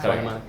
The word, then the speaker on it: Swarnamali: Like we had Upeksha Swarnamali, is that I say her name? Swarnamali. Swarnamali.